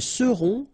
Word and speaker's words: seront: the end, et serez, ils seront, final T not pronounced, elles seront.